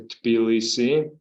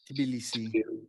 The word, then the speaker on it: Tbilisi: a bit more about Tbilisi and the startup ecosystem there. Yeah, first of all, Cheryl, thank you for the invitation of your podcast. Yeah, the correct pronunciation is the Tbilisi. Tbilisi.